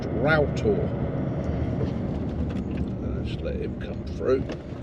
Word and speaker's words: Roughtor: Now, this is Ral. It's actually spelled Rough Tour, but in the local dialect is pronounced Ral.